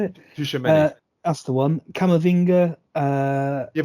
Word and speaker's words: Tchouameni: Tchouameni.